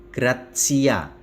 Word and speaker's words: gratia: Tata dan sebagainya sementara ti ti kalau diikuti vokal maka diucapkan PSI jadi C seperti kata gratia tulisan gratia itu diucapkan gratcia Mengapa karena tea diikuti vokal a maka gratcia dibaca TS Begitu juga dengan kata